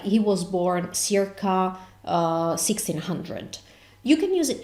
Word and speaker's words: circa: So this is circa, not circa. Why? Because we never ever pronounce that consonant as s. We either pronounce it as chi, like in this instance, or k, but never ever pronounce the c as in English.